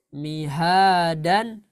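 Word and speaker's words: مهادا: Mihadan jadi Mihada. autadan. Autada. Azwajan. Azwaja. Subatan. Subata. Libasan. Libasa. Roma'asyan. Ma'asya. Shidadan. Dada. Wahajan. Wahaja. Sip. Jadi dibaca berapa harokat, Bu, ketika wakof? 2. Dua harokat. Ya, sip. Mantap. Jadi dibaca 2 harokat.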